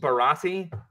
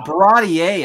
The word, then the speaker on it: Baratie: Can we go through at least Barati? Sure. Baratier, I believe, is the proper way to say it.